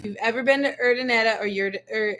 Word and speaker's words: Urdaneta: you've ever been to Urdaneta or how do you say it? Urdineta? Ordaneta. Urdaneta.